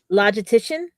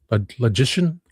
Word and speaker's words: logician: Um logitician. There's no t logician. Logician. The only T is right there and it's the dash T.